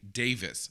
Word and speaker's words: Davies: So then you guys told me, no, even though it's spelled that way, in this case, Greg actually pronounces his last name Davis.